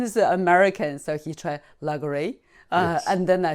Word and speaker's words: Lagardère: The proper name is Lagardère. How to spell that? Lagardere. Okay. Lagardère. Lagardère. Do you know my version? I tried. Yes, you tried. So my husband is American, so he tried Lagardère.